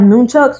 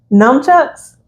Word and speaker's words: nunchucks: I think I'm pronouncing it correctly. You're not. Numchucks. There you go.